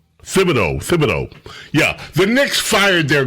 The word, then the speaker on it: Thibodeau: Hey, TJ, how do you pronounce this guy's name? Yeah. Tom Thibodeau. Thibodeau.